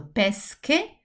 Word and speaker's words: pesche: So pesche, pesce. They look quite similar. This is a hard sound. This is a soft sound.